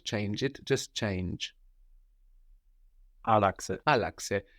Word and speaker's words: Άλλαξε: Άλλαξε. Άλλαξε. And we have the accent third from the end, no?